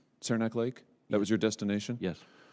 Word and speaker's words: Saranac Lake: You were using it to go to, what is it, Saranac Lake? Is that how I say it? I've never been there. Is that the right pronunciation? Saranac Lake?